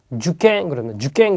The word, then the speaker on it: 受験: 주갱 그러면 수험 또는 시험이라는 말이고요. 앞에 발음 주가 짧다라는 거 체크를 해두시고 다음에 나오는 게 상당히 중요한 게 나왔습니다.